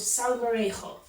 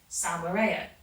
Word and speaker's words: Salmorejo: a Spanish dish called so variable that's the last time you know dude it took to pronounce it correctly from here I was saying it in that good old British way Sal Maria so summary is a